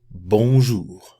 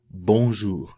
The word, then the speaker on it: bonjour: Bonjour. Bonjour.